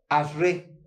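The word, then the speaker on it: אשרי: la palabra hebrea que se pronuncia asre, asre. Yo sé que mi pronunciación en hebreo no es muy buena, de hecho no es la mejor, pero más o menos así saldría pronunciando, asre, asre, con doble R.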